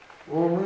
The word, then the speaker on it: ಓಂ: ಯಾವುದು ಮಕಾರ ಅನ್ನೋದು ನಾವು ಹರಿಹಿ ಓಂ ಅಂತ ಹೇಳ್ತೇವೆ ಓಂ ಅಂತ ಹೇಳುವುದಿಲ್ಲ ಅದು ಪೂರ್ತಿ ಮಕಾರ ಅಲ್ಲ ಅರ್ಧ ಮಕಾರದ ಅರ್ಧ ಉಚ್ಚಾರ ಹರಿಹಿ ಓಂ ಅಷ್ಟೇ ಮ ಅಂತ ಬಾಯಿ ಬಿಟ್ಟು ಹೇಳುವುದಿಲ್ಲ ಅದು ನಾದ ಅದು ಸಂಗೀತ